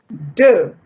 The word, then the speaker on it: deux: And then deux.